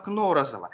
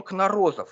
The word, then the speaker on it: Кнорозов: Во всех справочниках его фамилия почему-то приводится с ударением Кнорозов, хотя на слуху больше другой вариант, такой вот парадокс, бывающий с редкими фамилиями.